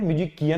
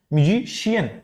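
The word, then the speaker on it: musician: म्यूजिशियन नहीं पढ़ते हैं, म्यूजिशियन नहीं पढ़ते हैं, म्यूजिकियन नहीं पढ़ते हैं, we read it एज म्यूजिशियन। यहां पे जो है ये पूरा कॉम्बिनेशन जो है ये आपका क्या दे रहा है? शी का प्रोनाउंसिएशन दे रहा है, म्यूजिशियन। उसी तरीके से अगर आपकी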